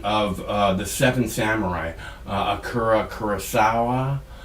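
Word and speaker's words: Akira: uh the seven samurai akura i believe is the way his name is pronounced akura kurosawa i believe that's right he made a movie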